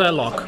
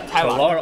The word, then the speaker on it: Tylock: It's pronounced Tylock. Tylock. Or if you want to get more specific, Tylock.